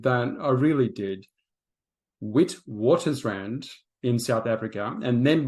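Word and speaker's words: Witwatersrand: Jeff studied at the University of Witwater Strand. Sorry, Jeff, I know I butchered that. I really did. Wit waters rand in South Africa and then read law at Oxford University in England, no less.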